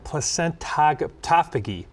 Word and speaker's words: placentophagy: Today, in nutrition in the news, we're talking about something called placentophagy. I'm going to pronounce that again.